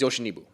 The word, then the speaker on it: Yoshinobu: I want to pronounce this name right, so I have it pulled up. Yamamoto Yoshinobu. I think it's Yoshinobu.